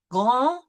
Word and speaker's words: grand: Grand, we will not pronounce the D.